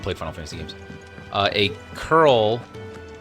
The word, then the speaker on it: Coeurl: If you don't play if you haven't played Final Fantasy games, a curl. It's spelled like coeurl, but it's pronounced curl.